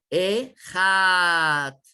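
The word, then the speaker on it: אחד: de decirlo, que es Ejat. La Het, que vale 8, significa que tenemos que pronunciar la Het en 8 segundos. Ese es como se debe de decir.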